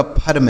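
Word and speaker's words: firm: आ, आर से र और यम से मैं, यह हो गया आपका फर्म, एफ आई आर एम फर्म।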